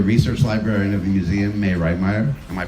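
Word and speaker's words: Mai Reitmeyer: Senior research librarian of the museum, May Reitmeyer. Am I pronouncing that right?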